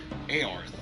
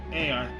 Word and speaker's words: Earth: anyway, they reached the mysterious planet known as Aorth. Why are we coming to this planet? Earth. It's pronounced Earth, Father.